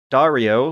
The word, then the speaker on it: Dario: Dario, which rhymes with Mario, asks, Dear Dads, love your show, listen to it at work, and I'm slowly listening through it in reverse order.